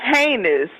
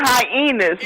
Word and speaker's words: heinous: you a mess now say say heinous and not hyenas like the animal hyena you a messy man